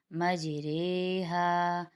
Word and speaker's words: مجریہا: زیر کی آواز میں، بلکہ اس کے درمیان کی آواز میں پڑھا، ریحا۔ آگے اس کی